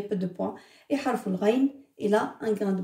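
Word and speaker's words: غين: C'est pas au fond de la gorge, au fond de la bouche. C'est vraiment tout au fond.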